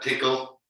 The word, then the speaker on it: Tcl: Tickle, TCL. I always like to spell that out because we pronounce it tickle, but if I said